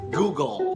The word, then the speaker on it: Google: go go kako know the correct way to say it is Google Google a lot of people